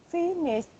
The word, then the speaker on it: finished: He finished work late. Can you please pronounce this word again? Finished. Okay, that's finished with T sound.